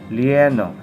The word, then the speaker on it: lleno: Joven, yeah, lieno. So when you encountered words with two L's, dua ka L, nagsunod, you pronounce it as lie.